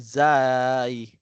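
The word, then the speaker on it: زاي: Kapag may tuldok ay zay. Zay. Malinaw po. So, ang pagbigkas niya naman po ay normal lang na para bagang letter Z katulad ng ating pagbigkas sa wikang English. Z. No, zay. Zay.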